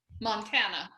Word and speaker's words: Montana: By the way, I've never asked, do you pronounce it Montana or Montana? Neither. Montana.